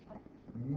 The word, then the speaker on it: mu: with a tail on the front and it's pronounced me mu mu mu mu well in English we write it